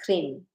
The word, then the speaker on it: Krim: The Kali The Kali Bija is Krim. It sounds like clean. Krim is a sound for